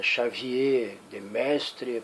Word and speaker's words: Xavier de Maistre: o Xavier de maistre pelo menos é assim que eu pronuncia o nome do carro como eu disse alguns vídeos atrás eu sou brasileiro se lá na terra dele ele chega Xavier de mestre problema é dele para mim ele é